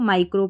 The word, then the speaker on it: micro: इसको माइक्रो पढ़ते हैं, फिर भी इसको आप तोड़ के पढ़ेंगे। जैसे कि स्पेलिंग में देखें, MI को पढ़ेंगे माई, फिर